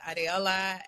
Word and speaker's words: Adeola: For my Nigerians out there, pronounced Adeola. I am a very proud Nigerian, born and raised in the DMV.